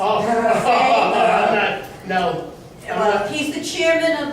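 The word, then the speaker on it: Xay: Oh, Zay? no. He's the chairman of the Providence Water Authority, and I believe it's Zay, X-A-Y.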